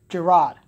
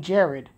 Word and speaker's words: Jerrod: present like oh it's Jerrod I'm like okay because she's not saying Jerrod she's saying Jared or Jarek which confuses me announce e8 the guy's name is Jerrod King Jerrod say it properly especially when you